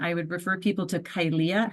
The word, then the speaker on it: Kylea: And I would refer people to Kylea. Her name's actually spelled like mine, but she says the A.